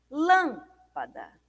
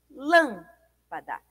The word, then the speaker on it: lâmpada: Lâmpada. Lâmpada. É a antepenúltima sílaba.